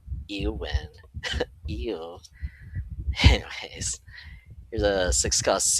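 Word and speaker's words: Éowyn: I think there are better Elwyn cards, or Eowyn. I don't know how to pronounce that. I mean, there's no L in there, so it's just Eowyn.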